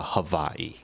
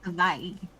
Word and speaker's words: Hawaii: It's actually pronounced with a V. So, Havaii. Havaii. Yes. For everyone, if you ever go there and you want to sound like a native, Havaii.